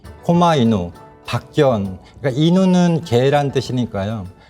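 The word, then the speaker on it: 狛犬: 이거를 뭐라고 하냐면 박견이라고 하고요. 실제로는 코마이누라고 읽습니다. 코마이누, 박견.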